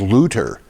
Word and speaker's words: Luther: German and she said why do you say Martin Luther? His name is Lutter.